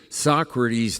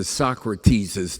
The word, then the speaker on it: Socrates': when you get to three Socrates dialogues I don't know anybody that say socrates's dialogues and they certainly with four syllables don't talk about Aristophanes so write it as